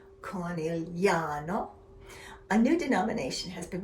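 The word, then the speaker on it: Conegliano: have the word Valdobbiadene, pronounced Valdobbiadene, or Conigliano, pronounced Conigliano.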